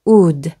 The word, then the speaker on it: would: 그래서 would 라고 발음하시면 됩니다.